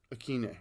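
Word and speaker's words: Westbrook-Ikhine: I'm not sure how to pronounce the Nick Westbrook Akine. Akine.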